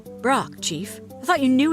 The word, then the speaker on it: Brok: ahead say my name it's of course no it isn't brock chief i thought you